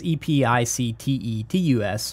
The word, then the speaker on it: Epictetus: I mean this is it's a weird spelling it's epi CTE to us which to me sounds